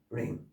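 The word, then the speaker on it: wring: 조류의 목을 비틀어 죽이다 링 그다음에 W가 바람이 안 되는 리글 지렁이가 꿈틀거리다. 마지막에롱 나쁜 오늘 전체적으로 설명드린 것은요 두 가지. 첫 번째는 WR로 되는 것에 W는 발음하지 마라. 없는 것처럼 자신있게 찝찝하게 그냥 발음 안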